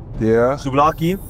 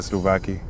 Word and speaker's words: souvlaki: I'm gonna start the gyros and bench the Slovakia. Okay. Souvlaki. I gotta say it right. Souvlaki.